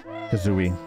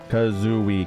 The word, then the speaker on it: Kazooie: I'm too lazy to say Kazooie kazui cuz it's three syllables you know what I